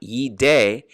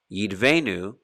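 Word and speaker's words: יִדְּבֶנּוּ: this together yid yid it's not yi day it's a shava nach venu yidvenu here is referring to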